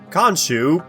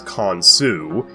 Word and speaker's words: Khonsu: rule is today's topic konu yes I pronounce it like the Marvel Comics it's technically correct just not as popular as k Sue is like Hades he